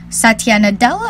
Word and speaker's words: Satya Nadella: aside from just gaming according to Microsoft CEO Satya Nadella I think that so pronounce it the hololens primary focus won't be